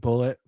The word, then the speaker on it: Bulleit: I probably pronouncing it wrong, but Bulleit, Rye. Like Bullet. Yeah, Bullet Rye.